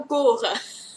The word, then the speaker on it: cours: น ะ ค ะ cours il y a s à la fin du mot oui.